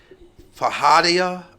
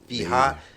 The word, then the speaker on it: feijoada: Maybe you guys, I can't even pronounce it. Fajada. I'm going to spell it. It's Feijoada. Never heard of it. Feijoada.